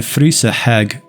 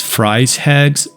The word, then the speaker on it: Fryse Hags: someone pronouncing it as Fri hags which is probably a standard English way to say it so in this video I'm going to stick with that one so Fri hags can be randomly encountered